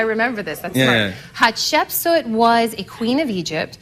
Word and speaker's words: Hatshepsut: Yeah, because most people can't pronounce it. They say Hatshepsut. I and say they stumble Hatsheput. over it. That works too. Hat she put. Good, but you have to go with the hat.